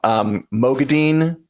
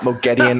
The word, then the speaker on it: Moghedien: Mogadine is how they say it in the audiobooks, not Mogedian or whatever, which is just memorable.